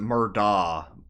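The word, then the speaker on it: Murdaugh: Oh because, yeah, like, they pronounce it Murda, even though it ends DOCH.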